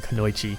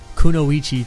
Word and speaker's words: kunoichi: all my life I've grown up saying kenoi and not until producing content did I get attacked for saying kenoi wrong so kunoichi to please you enter otakus but I actually think that's the correct way to say it so just if you